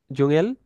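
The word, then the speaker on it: Dschungel: আচ্ছা, সো এটা ডে, এস, সেহা, এটা যখন থাকবে তখন হচ্ছে যে জয়ের উচ্চারণ হবে। এই ডে এর পর যে ইটা আছে, এটা বাদ যাবে আর কি। এই যে এটা ডে, এস, সেহা, ও, এন, গে, এ, এল, হচ্ছে যে জুঙেল।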